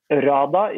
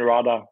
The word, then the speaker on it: hrada: RADA is the name of our new project. RADA. You might have to spell that one.